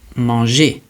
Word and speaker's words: manger: So when it's in front of an E or an I, it's going to be pronounced je. The example in English is measure. And so the example in French we're going to learn is manger.